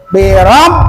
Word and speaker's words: birabbikum: Birabbikum, nah gitu kan kalau ada musyaddah tuh. Birabbikum. Jangan birabbikum, salah.